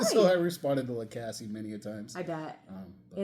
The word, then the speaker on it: Lacasse: Do you say Lacasse or Lacasse? How do you say it? Lacasse. Yeah. I think that's better than Lacasse.